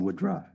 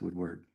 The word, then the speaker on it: Woodward: I'm going to call him Woodra, but it's Woodward.